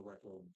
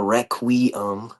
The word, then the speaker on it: requiem: project first because the rec room right now. This dude Royce is shy, bro. I'll get First into of my all, okay. Well, first of all, it's pronounced the requiem.